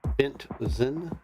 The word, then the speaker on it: Bentzen: Bentzen is officially how you say it. So B-E-N-T-Z-E-N. Benzian.